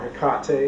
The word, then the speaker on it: Hecate: if you're not aware, um, Hecate or Heekate if you prefer a more Greek pronunciation, she's one of the